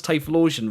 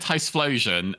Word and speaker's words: Typhlosion: Oh yeah, you were trying to pronounce Typhlosion, right? And then Tice, yeah, because I said Ticeflosion, and then you were